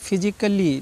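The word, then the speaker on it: physically: हमेशा ध्यान रखना है ये रूल्स डबल एल वाई अगर आता है तो ये साइलेंट है ऐसे ही आगे देख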